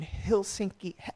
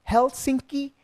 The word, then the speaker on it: Helsinki: a production over in Hill sinky I hope I'm saying it right guys I'm sorry if I'm not it's Helsinki Finland okay that's I have